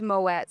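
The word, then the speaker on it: Moët: big conversations about this it's Moet I believe it's like the only normally you don't pronounce a t right but I think with with that particular brand they do pronounce te cuz it's fancy they're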